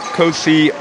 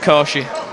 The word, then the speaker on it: Kosi: And that's a layup scored by Kosi Ochegbu. It's pronounced Koshi. Koshi, sorry.